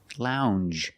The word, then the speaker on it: lounge: Lounge. It makes the regular N M plus the J. Lounge. It follows the same pattern as orange and change M. It's a regular N. N plusy soft J sound.